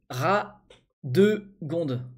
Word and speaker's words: Radegonde: Moi, c'est Radégonde à prononcer. Radegonde. Radegonde. D'accord, parce que je disais Radégonde à chaque fois.